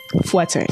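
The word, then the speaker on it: fouetté: you do a fuete?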